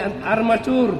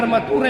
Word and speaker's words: armature: Nama lainnya armatur. lainnya di armacur. Armacur. Jangan armature ya. Armatur armacure tulisannya tapi bacanya armacur.